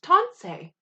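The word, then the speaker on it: tansi: to say hello and in cree hello is tonsei and it is spelled t a n s i so we're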